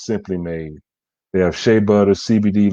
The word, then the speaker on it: S'Hemply Made: and it's all spelled simply made but it's pronounced simply made they have shea butter cbd lotions and chapstick